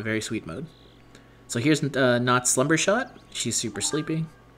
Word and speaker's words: Notte: Actually, her name is Not. I should pronounce her name Not.